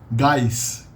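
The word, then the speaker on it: gás: a hidden e there guys guys is the usual pronunciation for gas gas a gas gaseous substance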